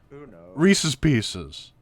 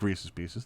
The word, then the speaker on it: Reese's Pieces: is pronounced pieces it's it's supposed to rhyme i literally just had